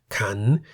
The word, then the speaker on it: ขัน: Ka, meaning leg, and kan, meaning bowl, each has one live syllable that begins with a high class consonant called kai and is therefore in the rising tone.